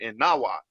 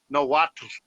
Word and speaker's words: Nahuatl: So I'm just not going to pronounce the L.